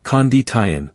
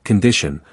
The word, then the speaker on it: condition: In the word condition, the initial vowel sound also takes on that light, tone. It's not condition with clear vowels, but more like condition, with a soft and faded beginning.